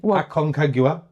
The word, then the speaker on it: Aconcagua: Aconcagua.